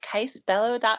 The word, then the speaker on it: Kyce Bello: about you you should come to my website case bellow comm and my name is spelled k YC e b e ll o